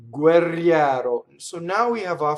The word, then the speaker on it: guerriero: Notice that the G doubled. So o guerriero. There's just a slight space.